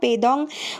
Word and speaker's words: পেডং: কিছু কথা বলা যাক এটাকে আমরা পেডং বললেও এটাকে ওখানের স্থানীয় লোকেরা পেদং উচ্চারণ করে থাকে পেডং হলো কালিমপং থেকে